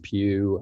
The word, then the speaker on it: Pugh: my name is pugh and this is my wife cynthia pugh e-d-w-a-r-d and her name is spelled cynthia c-y-n-t-h-i-a and last name is pew p-u-g-h uh i just put